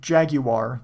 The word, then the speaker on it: Jaguar: the games themselves if Jaguar Jaguar the English pronunciation as I am English prices weren't so high